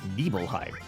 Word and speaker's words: Nibelheim: that you know it's not an Ibrahim it's nibbleheim so yes I did not know that and